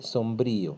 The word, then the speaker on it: sombrío: el sombrío el sombrío fíjate que hay un acento en mis temida eso se dice sombrío ahí se marca la la la sílaba brillo ya son y